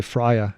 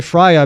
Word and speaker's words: FRIA: you do sometimes because you say friya I say Fria because the i in frya is identification so it needs to be